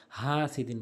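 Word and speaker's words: حاسد: যেটি করি সেটি হচ্ছে হাসিদিন বলি হা হলকের মাঝখান থেকে বলতে হবে এবং এক আলিফ টেনে পড়তে হবে হাসিদিন হাসিদিন হাসিদিন ওয়ামিন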